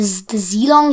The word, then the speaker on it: Zhilong: We've known the 3x3 to be called the Zhilong (pronounced ji-long) 3x3, that's what it's going